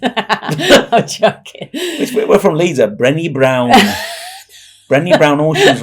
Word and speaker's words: Brené: I didn't know it's Brené. Oh, so I think it's Brené, with a. We'll find that out and with a little see thing who's shamed. I'm joking. We're from Leeds, Brené Brown.